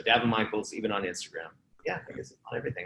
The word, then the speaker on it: Daven Michaels: Michaels there you go I do spell it funny da be en mi CH AE LS like Davenport so Devon Michael's even on Instagram yeah